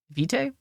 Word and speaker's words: vitae: have to dive in does v try with bite or night neither it rhymes with feet if it rhymes with